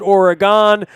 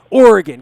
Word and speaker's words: Oregon: dad who lived in Oregon, not Oregon. I called it Oregon. She would always tell me, it's not Oregon. That's what tourists call it. It's Oregon. Oregon. Get it right.